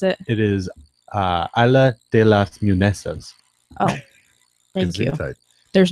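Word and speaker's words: Isla de las Muñecas: Oh, did you pull it up to pronounce it? It is Isla de las Munesas.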